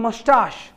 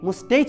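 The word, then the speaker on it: moustache: Samuel's dark face, স্যামুয়েলের ওই কালো মুখ, হিজ থিন মোস্টাশ, উচ্চারণ কি? মোস্টেচ বলবেন, মোস্টাশ, টাশ, টাকা তাল বিশ্ব, বুঝলে?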